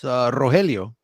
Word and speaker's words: Rogelio: That's when growing up, nobody can pronounce Rogelio, let alone roll the R.